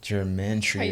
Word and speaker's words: gematria: Yeah, Pronounce it's like it. How gematria.